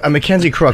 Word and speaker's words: Mackenzie Crook: Mackenzie Crook, right?